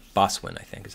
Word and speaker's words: boatswain: It's not, you don't pronounce the T, I think. Boswin, I think, is how you say it.